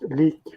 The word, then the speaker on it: Lik: I would just say that it's pronounced leak. Leak. No, sorry, mate. Leak. Okay, there you go. It's Swedish.